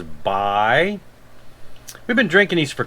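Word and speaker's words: Bai: how to pronounce it i used to pronounce it bae and then i heard somebody corrected me and said it was by we've been drinking these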